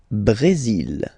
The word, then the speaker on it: Brésil: Le Brésil. Le Brésil. Okay, you will pronounce the final L here, and then remember accent aigu goes like E.